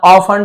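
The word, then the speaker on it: often: His mother ऑफन told him. उसकी मां ऑफन अक्सर टी को नहीं पढ़ना है। साइलेंट है।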